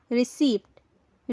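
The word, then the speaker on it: receipt: इसे क्या प्रोनाउंस करेंगे सो करेक्ट प्रोनंसिएशन होगी रिसी रिसी इस शब्द का पी खामोश होता है यानी हम रिसी बोलते हैं अगर आप रिसी बोलते हैं तो यह गलत हो जाएगा रिसीव नहीं होता है याद रखें पी को ना बोले पी साइलेंट होता है रिसीव होता है रिसी तो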